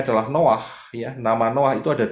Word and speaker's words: Noah: lanjutkan nah ini ya bahasa Indonesianya Nuh begitu ya tetapi sebetulnya adalah Noah karena ada dari dua huruf ingat ya bacanya dari kanan Noah ya Noah yaitu